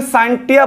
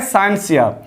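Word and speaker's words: scientia: साइंटिया से हुआ है, और एक्चुअली NCERT या फिर लैटिन में इसे साइंटिया बोलते हैं, लेकिन एक्चुअली इसका जो प्रोनाउंसिएशन होना चाहिए वो है साइंसिया।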